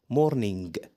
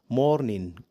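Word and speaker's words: morning: هو اي ان جي لو جه في اخر الكلمه حرف الجي مش بيتنطق بنطق اي ان بس يعني كده الكلمه اللي احنا قلناها تتنطق مورين مورين مورين جرب كده ممتاز وفي كلمات تانيه برضو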